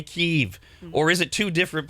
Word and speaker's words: Kyiv: It's the capital of Ukraine, which when Ukraine was under Russian rule before it was annexed was always Kiev.